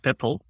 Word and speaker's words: PIPL: So, let's start indeed with the overview of Pipple. Yes, I am consistently calling it pipple to facilitate the pronunciation.